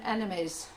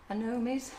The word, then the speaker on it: anemones: So this week it's on Thursday at 1:30, and we're doing clematis and enemies. No, is it enemies? Is that how you say it? Anemones? Enemies? No. It's all different. Anemones? Yeah, anemones.